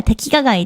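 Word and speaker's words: 迪化街: thị trấn tên là "Phố Dihua", phát âm là "Tevikagai" trong tiếng Nhật.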